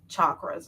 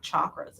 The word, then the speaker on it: chakras: By the way, that's how you pronounce chakras. It's not chakras, it's chakras.